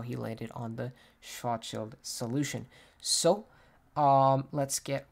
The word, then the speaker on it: Schwarzschild: Today's episode is on an astronomer that I struggle to say the name of, and he is Karl Schwarzschild. I looked up the pronunciation to make sure that I was getting